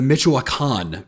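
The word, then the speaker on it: Michoacán: way I thought it was going to be pronounced God was incorrect fair enough so say it one more time the mitan region of Mexico okay where the majority of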